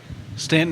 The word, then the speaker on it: Staunton: want to go Stanton Stanton is how most people pronounce it I say Stan so